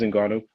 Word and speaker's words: Ngannou: You pronounce his name correctly. It is Ngannou.